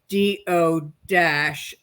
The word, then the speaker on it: Duchesne: or something, I'll put Peg Duchesne parentheses, quote, DO-SHANE, That is close smart.